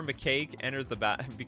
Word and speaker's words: macaque: Gatherer Macaque enters or becomes tapped.